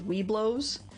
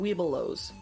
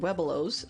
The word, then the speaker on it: Webelos: Yeah, most people I hear pronounce it Weebelows. Weebelows. I've heard it Webelows as well. It was a Midwest, I think it was. Neither is really right or wrong, it's an is.